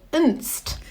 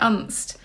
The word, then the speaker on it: Unst: we were listening because you pronounced it un and I was and I thought oh is it un or and and so before you went there you weren't pronouncing it right well I wasn't really sure how to pronounce it um but it seems well when I got there it seems that all the locals pronounce it unst but but sort of